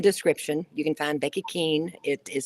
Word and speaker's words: Kuehn: link in the description you can find becky keane it is spelled k-u-e-h-n yep yes yeah and pronounced king right right becky thank you so much for